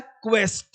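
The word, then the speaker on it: quest: क्या है बोलेंगे क्वा क्वेरल यह क्या है क्वेस्ट क्या बोलेंगे उसको क्वेस्ट क्वेस्ट मतलब खोज करना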